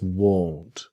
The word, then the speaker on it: won't: This is the pronunciation part that will not is won't. If you see the mouth is small won't but want is different that this part here comes down want.